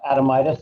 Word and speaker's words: Adamitis: i believe and uh my last name is pronounced uh adamitis i go by